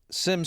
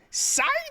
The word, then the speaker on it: Syme: Sim sprang to his. How do you pronounce his name? Is it Syme or Sim? It's Syme.